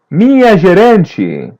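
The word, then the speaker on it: minha: Mia say feminine my listen and repeat mia repeat part after part ma ma mia mia letter n is a light n and letter h is pronounced as y mia try to Okay.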